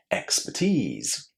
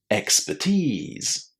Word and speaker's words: expertise: Which is the stressed syllable? It's the last one and it contains the long e sound. Tease. Expertise. Expertise. You can say the R again and say expertise. Expertise. However you decide to pronounce it, it's going to be stressed on that last syllable. And that last syllable is going to contain a lovely long e.